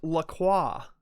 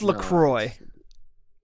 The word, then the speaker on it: LaCroix: bits thank you says it's pronounced lacroix it's it's lacroix it's like lacroix okay let's see but